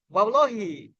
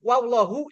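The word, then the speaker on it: واللهِ: k k ketiga ta contoh wallah ini wallahi atau wallahu wallahi jadi kalau ada orang ngomong wallahu salah gitu wallahi yang benar begitu ituam qasam dia ya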